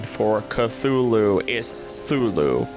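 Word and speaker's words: Cthulhu: it right it's like I think it's somewhere between the cha and the T sound Zulu so I I can't hit it either way and we've got we've got we've got thulu here scary scary star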